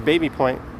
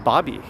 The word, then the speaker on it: Baby Point: eyes aren't tricking you that says baby point but it's apparently pronounced bobby i think that's one